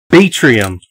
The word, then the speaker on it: Batrium: Batrium. Batrium. I knew that. That's how I was pronouncing it the whole time.